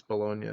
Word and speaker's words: Bologna: Okay, it's Bologna. St. Catherine of Bologna. Okay. It is funny to pronounce it Bologna because, oh, I work in a deli as well, so that's kind of cool.